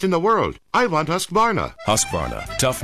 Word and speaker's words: Husqvarna: now how to say husqvarna you say husk like corn and vine like varnish without the ish and nah